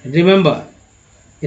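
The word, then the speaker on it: remember: तीन ई का उच्चारण जो है तीन तरह से हो रहा है, जैसे कि छोटी ई का यहाँ पर ई के रूप में, यहाँ पर सॉरी, पहला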